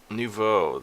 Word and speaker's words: nouveau: how to pronounce it oh my god nouveau that's that's how it's pronounced but this is something